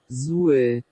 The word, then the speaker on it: złe: If you remember when we looked right back at the beginning about universalna, we'd said there's no V in Polish. They use W as the letter V to get the V sound. So, what do you use to get the w sound? This. Okay, so let's just hear it. złe złe złe Great.